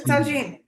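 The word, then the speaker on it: tajine: and the what about Tajin is that how you pronounce it yeah yeah this is Tajin okay because couscous is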